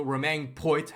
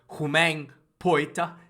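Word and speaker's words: Poite: this game was also roman poet i think it's pronounced humane poet he's uh his last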